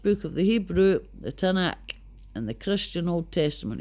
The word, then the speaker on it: Tanakh: Right, the Tanakh, pronounced Tanaks.